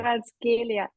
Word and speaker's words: Kvaratskhelia: Kvaratskhelia. Lovely pronunciation.